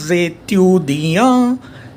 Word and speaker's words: étudiants: So I will say 400 étudiants. Étudiants, I am reading it till an. Now since last alphabet T is silent, so plural S हमारा